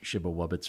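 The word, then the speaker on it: Przybyłowicz: that polish it's polish I think it's pronounced like shibba wobbits or something in right the American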